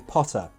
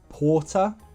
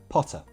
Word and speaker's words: Potter: the "O" sound in Potter The way you said it was a bit too long It sounded like Porter Should be Potter Potter very short sound otherwise, very good!